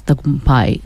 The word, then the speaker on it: Tagumpay: Tagumpay. Paul, remember that. Tagumpay means success. Can you pronounce it?